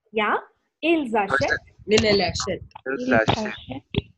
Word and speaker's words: ils achètent: Ils achètent. Ils achètent. Ils achètent. For the last one, you have to give the S sound because Ashet begins with a vowel there.